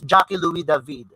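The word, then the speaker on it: Jacques-Louis David: louis david okay pronouncing because he is a french painter and that is how it is being pronounced it's jackie louis david it's the neopla it's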